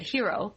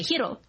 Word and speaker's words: Hiro: I thought it was because she was trying to say it with more of a Japanese accent, which would both be true. Sensitive. Mm-hmm. Like, she wanted to pronounce Hiro's name the correct way, Hiro, instead of Hiro or whatever.